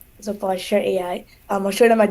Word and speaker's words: Postur AI: So my company name is Postur AI. It's spelled like posture but without an E. So Postur AI.